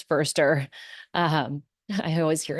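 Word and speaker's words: Foerster: and Chris fer and mind you it's fer not Forester or Forester or Forester it's Chris firster um I always hear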